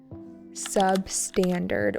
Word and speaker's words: substandard: Many of these products are substandard with an emphasis on the second syllable.